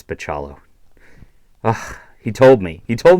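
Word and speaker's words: Bachalo: know it's like that I know it's not baccalo but it's like Piccolo I think maybe it's pachalo he told me he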